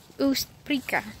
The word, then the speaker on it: Ostbricka: Ostbricka. Yeah. So Ostbricka.